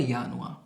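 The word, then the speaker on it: Januar: জানুয়ারিকে কি লিখতে পারি আমরা? ডচে ইয়ানুয়া। এটাকে বলে ইয়ানুয়া।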